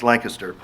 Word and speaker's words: Lancaster: Harry but the town Lancaster not Lancaster it's Lancaster so my point is that there are shalis